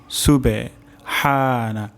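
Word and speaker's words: سبحان: শব্দটি হলো সিন সুবে সুবে হানা হা উচ্চারণ হবে গলার মাঝখান থেকে সুবহানা তারপর শব্দটি হলো রব্বিয়াল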